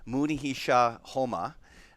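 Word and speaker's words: Munehisa Homma: trader this Mooney he shot so I'm gonna pronounce it properly here after a couple beers Mooney he Shaw Houma he was one of the first and one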